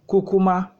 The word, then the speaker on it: kukuma: be discussing today is the word Cuma is pronounced cucuma and it just means go ahead and cucuma